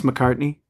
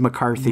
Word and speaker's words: McCartney: Did you purposely mispronounce McCartney? Did I mispronounce? Yeah, you said McCarthy.